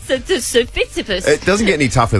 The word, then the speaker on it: Tsitsipas: Stefanos Tsitsipas. I believe the T is silent. Oh, is it? Well, there you go. Stefanos Tsitsipas. Tsitsipas.